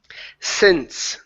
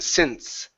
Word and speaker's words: since: Next one here is since. Make sure to pronounce the S sound at the end. Since.